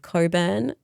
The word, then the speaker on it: Cockburn: around uh the city of Coburn um which is spelled Cockburn. I just have to say that. I think it's the funniest thing.